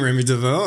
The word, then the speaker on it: Rémy Devaux: can do it so hi everyone uh i'm remy devoe and yeah i'm 50 percent of pancake hmm